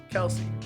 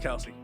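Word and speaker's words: Kelce: Well, I got another little Jason Kelsey thing for you, and Travis Kelsey thing off their podcast. Supposedly, their last name is not pronounced Kelsey. Their last name is pronounced Kels.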